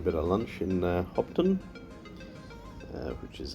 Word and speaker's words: Hopetoun: stopping for a bit of lunch in uh hopton uh which is how you pronounce it by the way i've just been